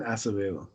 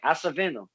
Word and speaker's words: Acevedo: my friend sure uh the name is acevedo right hasselveno i see i'm hacking it still and you